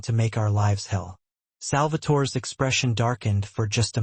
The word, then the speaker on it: Salvatore: Salvatore. He pronounced it the Italian way. Musical almost.